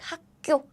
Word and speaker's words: 학교: It's written as 학교, but due to the rule 4 T's, we pronounce it like 학교, 학교.